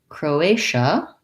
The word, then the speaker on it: Croatia: And finally, Croatia sounds like the word crow. I have my o vowel, and then my another tense a, and then the TIA says sh with a vowel schwa. Croatia, second syllable stress, so short, long, short.